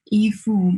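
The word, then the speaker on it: 依附: In Chinese, Yifu means clothes. Coincidentally, in the same pronunciation, Yifu means attachment.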